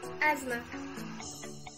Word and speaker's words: asthma: listen oven silent th there aren't many words with the silent th except for the words asthma and this was silent